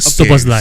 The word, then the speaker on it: Szoboszlai: Your Liverpool guy that I cannot pronounce Szoboszlai. His name is Dominic Szoboszlai.